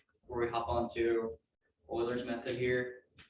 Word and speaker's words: Euler: Okay, any questions for that before we hop on to Euler's method here? It's pronounced Euler, by the way, not Euler. Some of you who took, some of you might know that because you use Euler's identity there.